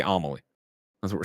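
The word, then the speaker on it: Amélie: says amelie is pronounced amalie emphasis on the first syllable is how she ah she a u capital a you i don't even know what ao malik amelie anomaly i'm going to say omelee that's what we're saying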